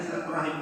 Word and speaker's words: silaturahim: peranakan yaitu apa rahim ada yang dibaca mungkin silaturahmi beda lagi silaturahmi yaitu membantu bacanya silaturahim tadi rahim kalau nyerah ini